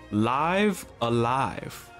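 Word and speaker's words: Live A Live: we start um that ttle screen live hey live alive yeah it's pronounced like that it's not pronounced like it's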